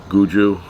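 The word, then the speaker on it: Guga: That is the way you pronounce that. Guju.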